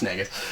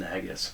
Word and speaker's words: Nagus: you know he could have gone with that pronunciation but no it's nagas um Odo would have called him naggas sure um it's disrespectful though that's the leader